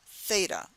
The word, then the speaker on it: Theta: It all has the A sound at the end, but it's starting with first like the Z sound, zeta, then comes eta, which is acting like a vowel, eta, and theta.